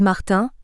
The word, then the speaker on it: Martin: ainsi par exemple Harold Martin a prononcé à la Britannique svp il se fâche tout rouge quand vous le prononcez à la française deviendra Martin Philippe Gomez Gomez et